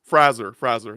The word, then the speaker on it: Fraser: Um, I know that I just know that we have been incorrectly been pronouncing his last name Sure. like all these years. Fraser, there it is.